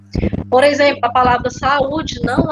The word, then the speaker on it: saúde: Fica saúde, né? São 3 sílabas. É uma palavra que tem 3 sílabas e a gente separa, percebam que fica saúde.